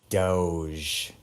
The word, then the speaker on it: Doge: I am of the opinion that it is either dog, and the E is silent, or doggy. Doge. I've always gone with dog, though, because it sounds like dog.